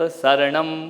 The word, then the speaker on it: शरणम: आप बोलते ना अरिहंत शरणम पवज, कौन सा वाला सा बोलते हो? शक्कर वाला नहीं, सड़क वाला है ना। शक्कर वाला नहीं, शरणम नहीं होता, शरणम। समझ में आ? शुद्ध उच्चारण। अरिहंत शरणम पवज्जामि। शरणम सीटी वाला नहीं, जिसमें जीभ घूमना नहीं चाहिए, सा टकराना चाहिए तालु।